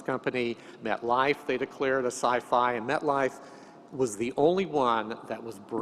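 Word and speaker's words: SIFI: I would argue that si fi should be pronounced the same as H I fi hi-fi or Wi-Fi which I'd pronounce as or si fi then should be pronounced as sci-fi exactly and that's exactly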